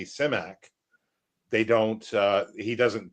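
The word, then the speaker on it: Simak: That's definitely the way you pronounce it as if you're him is similar to how it sounds in that Bulgarian transliteration.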